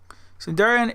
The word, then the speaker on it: Cindarian: Cindarian is pronounced as it was said and as I just said it right there. Cindarian.